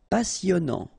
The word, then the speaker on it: passionnant: Passionnant. Okay, here you pronounce the double S because you've got a vowel, so it's really a strong one. Passionnant. Final T not pronounced.